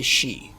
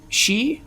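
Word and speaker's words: sídhe: we bring ourselves to the she that's spelled s d h e I know I know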